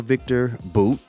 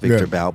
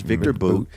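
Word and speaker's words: Viktor Bout: and we gave a Victor boot is how they pronounce it we've been saying about Victor about but it's Victor boot uh and he is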